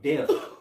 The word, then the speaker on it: debt: He said, I'm the king of debt. Debt. Debt. Debt. Debt. Gotta say debt. Debt. Right. The B is silent.